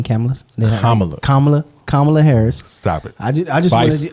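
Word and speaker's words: Kamala: statistics 2023 under under President Joe Biden and camela Harris Ain there name came kamla kamla Harris stop it I I just Harris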